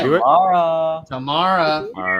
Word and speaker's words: Tamara: Tamara said it's pronounced like camera, just so everybody knows. Oh, Tamara.